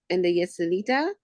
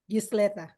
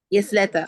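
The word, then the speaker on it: Ysleta: that word and the Yeselita Young Women's Leadership Academy. Please let me know if I said that wrong. Yesleta. Yesleta. Okay, thank you. I was like, I know I'm saying it wrong.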